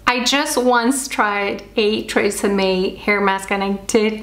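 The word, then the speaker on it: TRESemmé: The Tresemme. I think the actual pronunciation would be closer to Tresemme.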